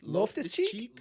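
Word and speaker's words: Loftus-Cheek: What's an accurate pronunciation of the last name? I couldn't. Cheeks. Loftus Cheek?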